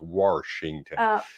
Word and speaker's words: Washington: It's actually we don't merge syllables together. We put an R in, so it's Washington.